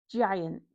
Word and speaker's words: giant: Giant with a j sound. So, here we have got an i after the g, so it's pronounced j giant.